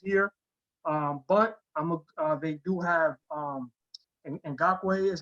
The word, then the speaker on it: Ngakoue: I think that they can easily go with Matos here, but they do have Ngakoue is how you pronounce his last name.